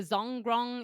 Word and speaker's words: Zhongrong: even going to try this one's pronounced this the shadow bank that Bloomberg has an article you'll see elsewhere it's a zhongrong it's z-h-o-n-g-r-o-n-g um so this entity